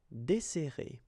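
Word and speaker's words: dessert: So no accent here and we'll get this deser. Okay. So we've got this double S. So it will open the sound of the uh here. That's the reason why I pronounce it like eer.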